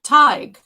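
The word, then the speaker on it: Tadhg: the bartender dude's name teague t tige but it's spelled t-a-d-h-g yeah i would never have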